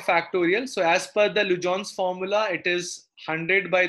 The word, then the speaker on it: Legendre: Written as Legendre, but pronounced as Lujon.